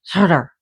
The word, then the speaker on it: Surtur: So, Surt, also called Surt, pronounced Surt, and Icelandic is Surtur or Surtur. Sorry, Surtur. So you roll the R's.